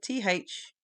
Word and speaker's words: though: THOUGH. Though. Then you get thought. So listen to the sound change. Though, thought. It's spelt OUGH.